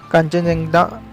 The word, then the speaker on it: Khangchendzonga: वाला पार्क सिक्किम का कांचनजंगा national park. Actually spelling जो अगर लिखना पड़े तो स्पेलिंग अलग है, प्रोनाउंसिएशन अलग है। इसके लिए इंग्लिश में स्पेलिंग ऐसी है KHANGCHENDZONGA।